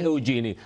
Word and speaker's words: Eugenie: Se escribe Eugenie, se pronuncia Eugenie.